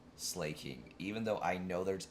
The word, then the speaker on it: Slaking: slacking off but I I cannot call it a slacking and I can't call it a slacko either like I know that's how it's pronounced and I know that's the intent behind it but I have to say a sloth vigoroth slay King even though I know